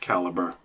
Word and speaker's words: Calibre: for Calibre or caliber I still call it calibra I can't help it but U most people are saying it should be pronounced caliber sorry but it's really